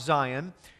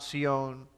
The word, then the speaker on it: Sion: Now, Mount Sion, some people call it Mount Zion, but it's pronounced Mount Sion.